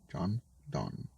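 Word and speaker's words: John Donne: is the sun rising by john don but pronounce that correctly john don busy old fool unruly sun wide dust thou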